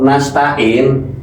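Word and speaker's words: نستعين: na'budu wa iyaka nastain tapi aslinya iyaka na'budu wa iyyaka nasta'in bahasa ta'in ya bukan tangin bukan ya tain ini secara tainu ini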